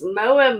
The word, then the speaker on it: Moa: It's, I think it's Moa. Moa is how you pronounce it.